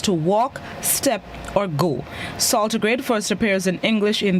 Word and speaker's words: saltigrade: This morning's word of the day is saltigrade. Saltigrade. It's spelled S-A-L-T-I-G-R-A-D-E.